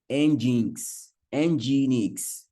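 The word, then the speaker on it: nginx: have one called Apache and the other called engin Enix this guy is pronounce like um let me put it somewhere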